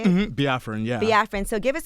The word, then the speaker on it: Biafran: Biafran, yeah.